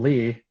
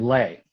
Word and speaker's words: Lee: last name incorrectly so it's not lee it's lay um and there's a